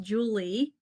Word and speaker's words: Julia: first name it's okay the first name is actually pronounced Julie because um my parents